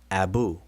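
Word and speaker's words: 3bw: Abu, Abu, Abu. And because it's transliterated the same, we conventionally, and I stress conventionally, we conventionally pronounce it the same.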